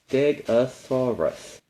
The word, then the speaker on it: Stegosaurus: Stegosaurus.